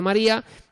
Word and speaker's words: María: Si tenemos María, el nombre de María, tenemos tres sílabas aquí, María, ¿vale? ¿Y qué pasa? Pues que tenemos una vocal cerrada tónica, que es la i, y una abierta átona, que es la a. María.